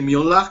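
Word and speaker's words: Müller: No Mula, no le dije Mula, dije Miola, como se pronuncia su apellido en alemán.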